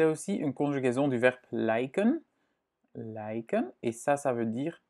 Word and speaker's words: lijk: Ik lijk op hem. Donc, cadavre et ressembler à. Et ici, c'est juste une partie d'un adjectif, ok? Et het lijk, là, on prononce en effet ei.